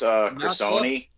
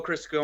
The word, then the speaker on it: Crisoni: Alex Crisoni. Oh, Crisco. No, Crisoni was the Crisson.